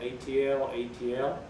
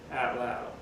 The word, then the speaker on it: atlatl: In Ohio, they say atlatl. In Wyoming, they say atlatl. But some people believe that the ATL, ATL is the same syllable pronounced twice, and they'll say atl, atl.